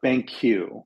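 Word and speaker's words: Banqu: really interesting stuff and it's called Uh Bank Q which which is spelled b a n quu than you um they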